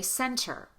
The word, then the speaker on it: center: When you have the letters NT together between vowels in a single word, pronounce the T as a true T.